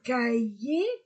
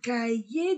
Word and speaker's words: cahier: livre des livres un cahier un cahier d'exercice un cahier cahier le on ne prononce pas le H un cahier un cahier d'exercice un cahier un